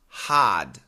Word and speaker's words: hard: promise petrol instead because in proper English the sound R is silent in all these words mhm hard party star yeah he says h a r d is pronounced had and he says it's